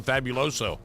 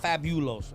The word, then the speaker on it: Fabuloso: And if you get the multi-purpose one, Not fabuloso. fabuloso. There's no you in that.